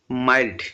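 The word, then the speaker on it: mild: Option D মাইল্ড। এটা মিল উচ্চারণ করবে না। এটা মাইলড উচ্চারণ করবে।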